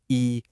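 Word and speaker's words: 一: It's pronounced E. Let's say that again. E. It's a high flat tone.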